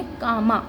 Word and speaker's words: cama: तो हमने पढ़ा है कि जब C और A साथ में आते हैं तो उसकी प्रोनाउंसिएशन होती है का, और M और A जब साथ में आते हैं तो उसकी प्रोनाउंसिएशन होती है माँ। तो इस वर्ड को हम कैसे पढ़ेंगे, कामा।